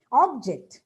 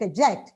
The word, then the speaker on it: object: noun or adjective but stress on the second syllable when it is used as a verb it's not that easy